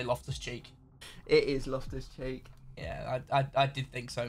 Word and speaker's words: Loftus-Cheek: It is Loftus-Cheek.